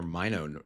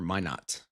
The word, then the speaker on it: Minot: Out in near Minot, North Dakota, I believe. Or Minot, I believe, is how they say it.